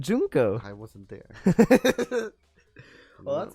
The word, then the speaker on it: Junko: No, but they said it. They said Junko.